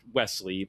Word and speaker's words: Wisely: The Seventh Curse, in particular, was the first in a series of gonzo adaptations of the Wisely novels, sometimes pronounced Wesley, but they always spelled it Wisely, a w i s e l y.